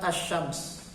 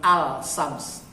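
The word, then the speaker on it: الشمس: surat assyams ya surat assyams Jadi bukan al-shams bacanya Azzam Hai surat assyams ayat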